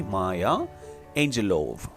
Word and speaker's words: Maya Angelou: Let's pronounce the word correctly, her name correctly, Maya Angelou.